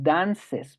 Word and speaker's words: dances: añado una s pero al momento de pronunciarlo sí tengo que decir dances por qué porque esta e no suena sin embargo lo que